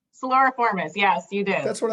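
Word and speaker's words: Siluriformes: Suloriformes, yes, you did.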